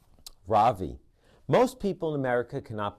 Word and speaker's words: Ravi: is my name my first name is ravi is pronounced rav v with a soft raw and a strong v in sand skirt it means the sun in america people call me ravi with the stress on the first syllable that